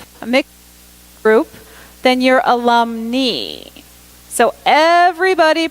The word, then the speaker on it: alumni: a mixed group a mixed group then your alum knee so everybody pronounces that second line al um and I everybody says alumni you're only talking about women graduates there are